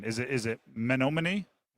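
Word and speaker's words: Menomonee: Um who's a bigger You have to help me on the pronunciation. Is it Is it Monomony? Monomin.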